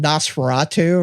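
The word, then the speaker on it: NOS4A2: Uh I have read uh some of I read um I mean I guess you pronounce it Naseratu, right?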